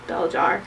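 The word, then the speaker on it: Belzhar: friend Brian picked it up, and that is Beljar by Meg Wolitzer. Yes, it is spelled Belzar, but it's pronounced Beljar.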